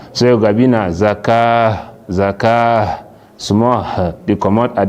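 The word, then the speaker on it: الزكاة: You know go stand and say wa yu'tuz zakat. You know go pronounce na ta. When you stop on top ta marbuta, you stop like say you stop now on top ha. So you go bina zakah small they come out at the end.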